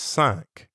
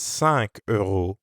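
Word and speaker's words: cinq: different market four euros is katre and how about five five is sunk so five euros is sank now you practice how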